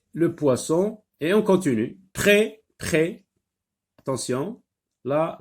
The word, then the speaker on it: prêt: Attention, là, la lettre S ne se lit pas, donc c'est une lettre muette. On ne l'a pas prononcée, donc on n'entend pas le son S dans le mot prêt.